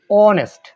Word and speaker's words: honest: অনেস্ট, HONEST, অনেস্ট।